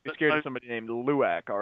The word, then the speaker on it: Lauck: And I am Lauck, but not pronounced. It's actually Luak, but we're working around the name.